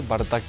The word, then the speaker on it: Bardghji: Uh, Ronnie Bardi. That's it. Remember it? Ronnie Bardaji, the new fan favorite.